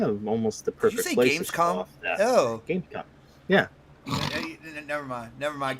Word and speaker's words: Gamescom: Gamescom? Oh, Gamescom. Yeah. Never mind. Keep going, Dark. Keep going. What? Did I say it wrong? You said it with a soft O.